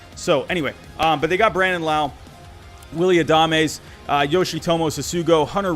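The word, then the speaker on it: Brandon Lowe: I finally pronounced Brandon Lau correctly. So anyway, but they got Brandon Lau, Willie Adames, Yoshitomo Sasugo, Hunter Renfroe, Randy Arozarena.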